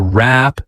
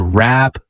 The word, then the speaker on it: wrap: To wrap things up. To wrap things up. Notice that the W at the beginning of the word wrap is not pronounced. To wrap things up, okay?